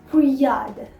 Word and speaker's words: brouillard: typical word, that is il y a du brouillard. Il y a du brouillard. That is, it is foggy. The weather is foggy. Répétez après moi. Alright. Brouillard.